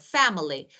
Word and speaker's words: family: For example, family, family. Fa is stress, milling family.